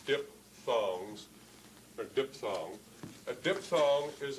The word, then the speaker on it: diphthong: that technically are called diphthongs. But let me, spelled P-H-T-H, but pronounced like P, diphthongs, or diphthong.